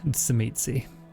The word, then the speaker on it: Tzimisce: For the benefit of everyone, the only correct way to say it is Tzimisce. Tzimisce.